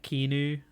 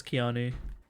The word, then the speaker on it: Keanu: I think I don't believe that you thought Keanu was said like Kenu. Pretty sure it's Keanu.